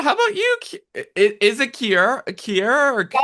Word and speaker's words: Kiara: Kiara or Kiara? Yeah. Kiara.